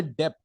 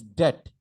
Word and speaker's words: debt: Do not say debt. It's debt.